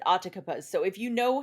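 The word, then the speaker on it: Atakapa: I looked up how to say it and it said Otakabas.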